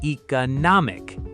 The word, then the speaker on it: economic: Another one, words ending in ick or ickle are almost always stressed on the syllable right before the ending. So we get economic, historic, geographic, photographic.